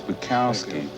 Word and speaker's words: Bukowski: buy some of my my name's bukowski buy my books b-u-k-o-w-s-k-i you be you you you could rhyme with cubes yeah ladies and gentlemen